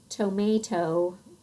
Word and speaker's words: tomato: of the syllable and so it says the long sound toe-may-toe again that might be pronounced different depending on your dialect but everybody says the O at the end of tomato we say the long o sound regionally we might say that middle a differently some say tomahto instead